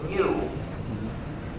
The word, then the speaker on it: GNU: Pronounce, say, the GNU system. However, in Italian, it's okay to pronounce it new, which is how you pronounce the name.